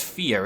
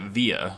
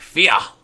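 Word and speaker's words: vier: It is fear, isn't it? It's more like an F sound than a V sound. It's spelled V-I-E-R. But every time I pronounce it via, like it, you know, is spelled, people shout at me.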